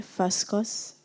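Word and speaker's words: fuscous: Am I pronouncing the word correctly? Fuscus?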